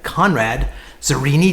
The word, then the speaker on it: Conrad Zurini: Today we had Conrad Zurini. Did I pronounce it right?